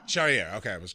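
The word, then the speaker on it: Charrière: Charriere. Charriere.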